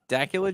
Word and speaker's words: Dacula: this and now daula Dacula Georgia or is it not like Dracula right yeah I think it was not like Dracula but I like Dracula better